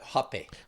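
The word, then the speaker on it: rapé: The hape. H. They call it rape, but down there, but up here it's spelled R A P E.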